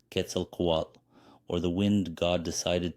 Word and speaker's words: Quetzalcoatl: age that we live in now quel KOAT pronounced Ketel KOAT or the wind God decided to wander the